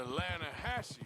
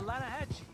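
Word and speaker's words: Lannahechee: some beautiful steelhead drought you mean the atlanta hassi river no no no no no the the lana hatchy it runs right near here yeah but it's pronounced land hass why is everything in english said differently than it's written make us feel stupid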